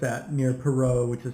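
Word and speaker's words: Perrot: But it's at near Perot, which is spelled P-E-R-R-O-T, in case you're keeping track.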